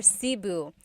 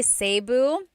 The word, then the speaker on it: Cebu: So, technically in the Tagalog alphabet, the letter E can be pronounced E or E like the letter I. So, I say Cu. Cebu. And I know some people say Sabu, but usually it's either Cebu or Sebu.